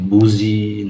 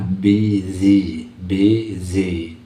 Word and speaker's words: busy: di kata busy-nya ini, yang BUS SY ini sering dibunyikan orang seperti buzi, entah apalah, busi, dibacakan seperti tulisan. Ya, bunyi yang benar adalah busy, busy.